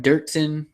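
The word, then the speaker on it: Doerksen: Joe Rogan was calling him Dirksen. I think it's called Dorksen, or I don't even know how you say it.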